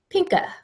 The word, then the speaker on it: Pinker: family Cocker Spaniel and like Virginia Barry pronounces it pinka pink a Fed Barry loads his gun